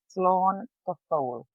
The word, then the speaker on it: slán go fóil: And how you pronounce it is slán go fóil.